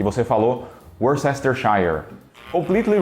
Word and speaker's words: Worcestershire: Só que o jeito certo mesmo de pronunciar isso aí é Worcestershire. Eu vou repetir. Worcestershire. Faz algum sentido? Nenhum. Por que isso daqui é pronunciado como Worcester? Eu não sei. Por que Shire e não Shire?